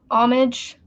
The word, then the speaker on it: homage: Because, it's kind of paying homage, whatever. I think the H is silent.